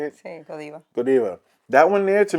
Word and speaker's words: Godiva: that's like, is it Godiva? How do you say it? Yes, Godiva.